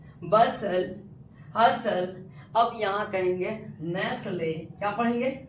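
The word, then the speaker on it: Nestlé: नेसले। अब आप कहिएगा कि सर यहां ई साइलेंट नहीं होगा क्योंकि ऑलरेडी ये कंपनी का नेम है तो इसमें आपका नहीं होगा साइलेंट ठीक है यहां आपका ई साइलेंट है बट यहां आपका टी साइलेंट होगा समझ में आ रही है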